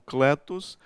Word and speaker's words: kaleo: Kaleo, que nós pronunciamos como kletos, chamar, convocar.